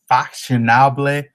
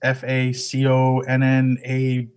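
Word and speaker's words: Façonnable: Another brand is Fashionable. I think it's pronounced Faconnable. I just pronounced it on Google. Google told me what it was pronounced.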